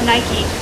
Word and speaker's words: Nike: and they all love nike but said it wrong without the long e like bike abby shrugged she didn't